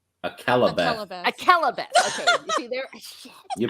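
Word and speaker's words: Akallabêth: Actually, like I said, I couldn't even remember Alcarabeth. Akalabeth. Okay, you see there. You pronounce it in Chinese.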